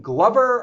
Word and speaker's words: Glover: Is it pronounced Crispin Glover or Crispin Glover? Lover, Glover. Glover? Like hover, to hover is like Glover. Okay. Or lover, you know.